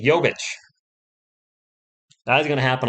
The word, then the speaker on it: Jovic: Did I say Jokic? Jovic.